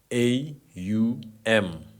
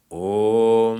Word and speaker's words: Om: It is made up of three syllables? I think it's three letters. Yes, three syllables. Yes, three syllables. A-U-M. Popularly chanted as Om. It's the Om mantra, but in actuality, it's made up of three letters, which are A-U-M. Can also be chanted as Aum.